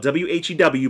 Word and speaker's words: Whew: on a obscure property called Whew, and that's how it's pronounced. It's spelled W-H-E-W, but it's pronounced Whew, which is weird.